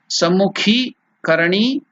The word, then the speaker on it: Sammukhi Karani: It is called Sammukhi Karani mudra. Sammukha, not the first ka, it is the second ka. It becomes ki. Sammukhi Karani mudra. Sammukhi Karani mudra. That is the pronunciation.